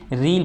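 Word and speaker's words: riel: है रियाल, ठीक है, ये रील है, वैसे रियाल तो नहीं है स्पेलिंग इसकी, रील पढ़ेंगे इसे, ठीक है।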